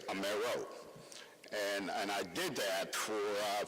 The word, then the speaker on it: Amaro: My college professor encouraged me to change the pronunciation of my name so I can be more accepted, if you will. And so instead of saying Amaro, I'd say Amaro.